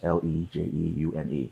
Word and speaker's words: Lejeune: Lejeune. Okay. Because the family came out and said, this is how you pronounce it. It's Camp Lejeune, but okay. Lejeune. Yeah. There's no R. No. It's Lejeune.